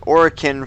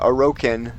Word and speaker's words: Oren: I was saying orin for the longest time until I heard the uh dev uh call or uh oren which I thought is the more interesting way of saying it either way.